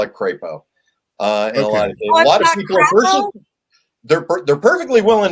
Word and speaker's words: Crapo: uh Mike Uh crap so how do you pronounce his last name or we we call it crapo uh they're they're perfectly willing to call him